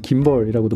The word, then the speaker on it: gimbal: 짐벌을 영어로는 김벌이라고도 발음을 하는데요.